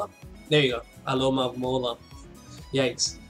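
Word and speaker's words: Alomomola: the late game, especially once I can never pronounce that name. What is this guy's name? It's Alomola. There you go. Aloma Mola.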